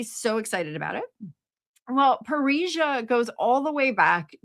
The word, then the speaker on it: Parrhesia: Parrhesia. Oh, also sounds like Paris, but that's not how it's spelled.